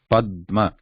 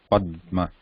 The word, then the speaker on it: Padma: Yeah, Padma. So again, writing is pa, then there is consonant da without any vowel, then there is ma, Padma.